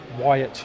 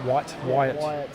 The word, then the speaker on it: Wyatt: Jamie wanted something friends Wyatt not white you're a watermel guys